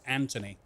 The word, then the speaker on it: Anthony: My name is Anthony. But it's not spelt as A-N-T-O-N-Y. No, there's a H in there, so everyone thinks my name is Anthony. And that's not true either. The H is silent.